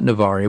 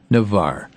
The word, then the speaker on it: Navarre: Navarre Florida and Nick I have learned how to say it not navari but Navarre that okay Rick well